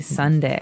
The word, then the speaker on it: sundae: as you can see the word is pronounced exactly like the day Sunday uh but it has a different spelling in the end s u n d a e Sunday right so this is